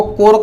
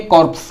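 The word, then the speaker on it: corps: ठीक है, आपको क्या दिख रहा है, बोलने में आप सोचेंगे कॉर्प्स, क्या बोलेंगे, इसको कॉर्प्स बोलेंगे, जबकि इसको कॉर्प्स नहीं बोला जाता है। इसका जो प्रोनाउंसिएशन किया जाता है वो कोर लिखा जाता है।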